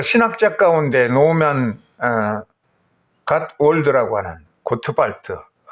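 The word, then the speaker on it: Gottwald: 이걸 이해하려고 그러면 그 신학자 가운데 노만 갓월드라고 하는 고트발트, 독일어서 발음한 고트발트인데, 이 신학자가 설명한 것을 들어줄 필요가 있어요.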